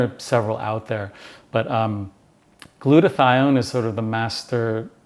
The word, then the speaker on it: glutathione: And then I've been taking glutathione.